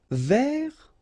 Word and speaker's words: vers: Vers, so you don't pronounce the final S, means towards or about.